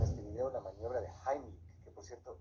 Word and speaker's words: Heimlich: Vamos a ver en este video la maniobra de Heimlich, que por cierto, esa es la pronunciación correcta porque está en alemán. La mayoría dice Heimlich, pero bueno, se entiende de qué se trata.